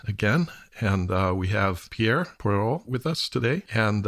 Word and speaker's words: Pierre: and you know with the french accent i guess the r's are the most problematic but i will allow